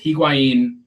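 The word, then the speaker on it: Higuaín: to be tragically funny the H is silent by the way I am not Hispanic I will speak it like an like an American wow and before this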